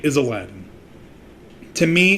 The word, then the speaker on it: Aladdin: now my name again i will say is aladdin to me it's simple i'm named after a